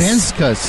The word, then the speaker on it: Venskus: me get Briana vus venskus yes venskus yeah did I say it right you did you nailed it I did it'd be